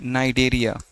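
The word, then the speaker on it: Cnidaria: इसके बाद यह जो है पोरिफेरा के बाद का हमने नाइडेरिया। देखिए यहां पर हमने सी से लिखा है लेकिन एन से पढ़ना हो रहा है। यानी सी साइलेंट है।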